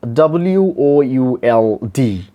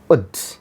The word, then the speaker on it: would: In a strong form, the word will be pronounced would. Wa, wa sound, u sound, and da sound, would. First sound is wa, second sound is our focal point, u, I mean upsilon, and the last sound is da. In the strong form, the pronunciation will be would, would. And in the weak form, this word will be pronounced like ud, ud or ad, ud or ad, ud or ad.